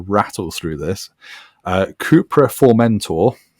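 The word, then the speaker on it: Formentor: through this uh cooper for mentor for mentor and apparently that is how you say it because every comment on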